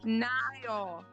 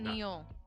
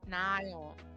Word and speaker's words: Niall: Niall. Not Neil. Niall.